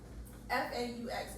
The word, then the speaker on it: faux: FAUX is pronounced faux. It's French.